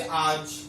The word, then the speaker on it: आज: लिखित रूप है जैसे आज, लेकिन जब हम बोलते हैं तो आज में जो अ का उच्चारण नहीं आता है।